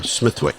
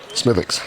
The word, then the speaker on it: Smithwick: I hope um uh Smithwick Smith that's not how you pronounce it smithx smithx so uh it was